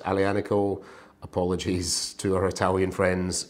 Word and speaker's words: Aglianico: an alley a nickel which is spelt ugly a Nicole I think pronounced a Liana call apologies to our Italian